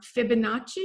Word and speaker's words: Fibonacci: But then you go a little step further, and I know I probably mispronounced it, Fibonacci?